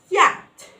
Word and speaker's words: yacht: Here, letter CH is silent, yacht, in American accent, yacht or yacht.